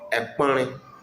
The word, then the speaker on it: Ekpɔnre: Table in Nzema is called Ekpɔnre. Ekpɔnre. And it is spelled as E K P O O E.